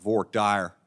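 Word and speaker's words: voir dire: process of jury selection most parts of the country we call that Fort here only in Texas they call it vork Dyer I don't really understand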